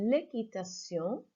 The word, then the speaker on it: équitation: Remember, in French, we don't have a qu sound, so it sounds more like a key, like a K. So l'équitation.